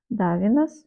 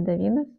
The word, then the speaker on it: Davines: Первый раз вот этого бренда Davines или Davines, по-моему, Davines, правильно говорить.